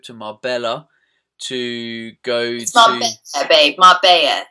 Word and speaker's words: Marbella: Marbella to go babe Mar it's a silent L well they don't tell you that so how would I know all right Mara I'm going to Mara